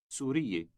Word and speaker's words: سوري: Note that when addressing a woman, you have 3 syllables. For a man, there are only 2.